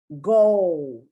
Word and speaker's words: goal: person in the world goal goal you don't really pronounce that l but sometimes you do because you want to distinguish it from gold which is auto which is something totally different but goal you use